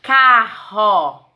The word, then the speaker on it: carro: da palavra e já quando ele tem o som forte no meio da palavra ele vai ter que ter dois erres como é o caso de carro o carro se escreve com dois R porque se eu escrever com apenas um R como que vai ficar a palavra caro e a palavra que eu quero não é caro é carro então para